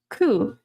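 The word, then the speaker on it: 九: The number nine coup sounds like suffering.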